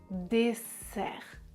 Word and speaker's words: dessert: Je prononce dessert. Les cordes vocales ne vibrent pas.